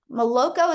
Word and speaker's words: Maloko: Maloko, is that how you say that? Think so. Yes, perfectly so.